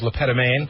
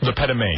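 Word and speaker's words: Le Pétomane: I think the pronunciation of the name was Leettoain. Letoain.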